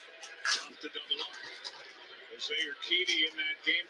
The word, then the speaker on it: Urquidy: Okay, Jose Ugurity, the game 4 pitches on the mound. Stingy hitter. Off to double up. Jose Urquidy in that game 4 Urquidy.